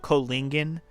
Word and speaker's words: Kohlingen: We'll just call it Kohlingen We'll have the H be silent. That's probably how you're supposed to pronounce it anyways.